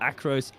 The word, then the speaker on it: Acrose: of a second behind acoss I think it was or across I should rather say is that is the way to pronounce his name I'm not native I